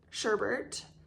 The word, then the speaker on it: sherbet: So it's spelled sherbet, but I've always said sherbet. Like technically it's S-H-E-R-B-E-T, which would be sherbet or like sherbet, but I've always called it sherbet.